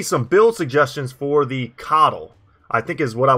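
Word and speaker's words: Qatal: build suggestions for the coddle i think is what i was told is how you pronounce it the coddle dagger more of a k sound than like the q u sound i was trying to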